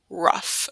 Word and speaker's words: rough: So we know this beginning sound is This is rough, rough. So it sounds like you're going to be spelling it R-U-F-F.